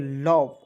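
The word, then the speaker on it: love: समझिए यहां देखें दोस्तों एल ओवी ई तो लोभ नहीं पढ़ लेंगे बहुत लोग लोभ पढ़ लेता है लोभ पढ़ लेता है ये सब तरीका जो है दोस्तों छोड़ दीजिए आज के इस वीडियो के बाद ठीक है तरीका ही बदल देना है एल से लिखेंगे दोस्तों ल और भी का उच्चारण व के रूप में लव क्या हो जाएगा लव लव लव ना लव पढ़ते हैं ठीक है चलिए लव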